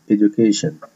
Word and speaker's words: Education: Education عندي السي بتنطق كي وال TION بتنطق شن, Education.